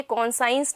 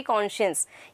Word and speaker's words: conscience: Okay, तो ये कौन साइंस नहीं होगा, it's going to बी कॉन्शियस. यस, सो से it with the correct pronunciation.